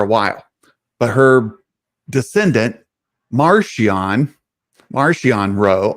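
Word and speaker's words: Marchion: a r c h i o n it's Martian they just took Martian and pronounce it like okay okay Maron Maron Martian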